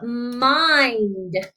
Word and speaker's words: mind: I have M and then the glued sound IND. And remember, it's a closed syllable exception. It breaks the rules because that I says its name for that long vowel sound.